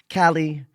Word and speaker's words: Callie: Callie uh rhymes with Sally.